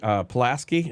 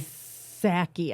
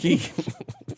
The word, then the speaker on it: Psaki: The former press secretary, Pulaski is her name, or Polsky? Psaki, I think. Psaki? Pulaski. The P is silent.